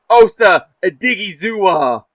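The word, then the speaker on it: Osa Odighizuwa: least cover this out route and there is Osa digua yes I did look up to how to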